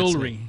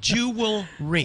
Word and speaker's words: jewelry: there's I can't uh jewelry jewy that's another one that get jewry yes it's jewelry it's jewelry okay now that you're